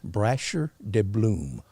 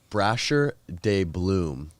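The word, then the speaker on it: Brasher Doubloon: Brasher de Bloom. Brasher de Bloom.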